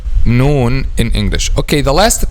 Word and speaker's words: ن: when pronounced letter noon the first common mistake is making litter known a heavy letter instead of making light letter because letter known is a light letter so the first common